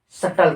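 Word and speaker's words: subtle: सटल पढ़ते हैं। जैसे एक होता है नाइफ। ये इसमें साइलेंट होता है।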